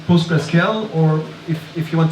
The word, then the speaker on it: PostgreSQL: running so to recap very quickly um it's pronounced post scl or if if you want to be uh even better but it's unofficial it's post gr SC um there are very very many handy data